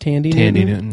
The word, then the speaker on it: Thandie Newton: But probably my biggest issue with the entire season was the Maeve plotline with Thandie Newton, who apparently her name is pronounced Tandy Newton.